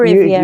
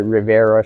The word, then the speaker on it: Riviera: Yes, Riviera or Riviera? yeah, it's actually Riviera, but most people in the Philippines call it Rivera, so that's all right. Yeah, Gabayan yeah. Riviera, just like the French Riviera.